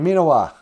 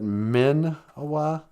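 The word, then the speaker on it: Miinawaa: Gigawabamin, Minawa. I've noticed that I usually kind of pronounce it Min-awa, but it's actually Minawa. 2 I's. Me. In the Ojibwe double vowel spelling, 2 I's is the E sound.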